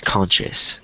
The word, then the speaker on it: conscious: repr pronounce these words so it's conscience is like conscience conscience and then the other one is conscious so right now all